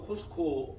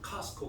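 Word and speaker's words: Costco: 그 한국도 코스코 맞죠? 코스코? 예. 코스트코라고 하는데 T자 발음하는 거 아니에요. 그냥 코스코. 미국 사람 카스코 그러니까 카스코. 여러분들 코스트코 그러면 못 알아들어요. 그러니까 카스코, 코스코.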